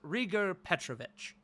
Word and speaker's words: Rhaegar Petrovic: Uh, he just to just to clarify on the pronunciation, it is Rarger Petrovvic.